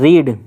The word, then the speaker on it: read: first form होती है रीड और सेकंड फॉर्म होती है रेड थर्ड फॉर्म भी रेड तीनों फॉर्म की स्पेलिंग तो सेम ही रहती है लेकिन प्रोनंसिएशन अलग-अलग होता है रीड रेड रेड तो इट रेड इट